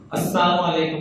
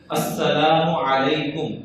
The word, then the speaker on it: السلام علیکم: السلام علیکم۔ اس کا مطلب ہے تم پر موت ہو، تمہاری تباہی بربادی ہو۔ اس لیے سلام کا لفظ صحیح تلفظ سے ادا کرنا چاہیے، السلام علیکم۔ کیا لفظ ہے جی؟